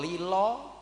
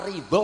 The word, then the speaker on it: ridha: Orang Jawa mengucapkan "lila" bukan " ridha", "perlu" bukan "fardhu", dan Ramadhan menjadi "Ramelan".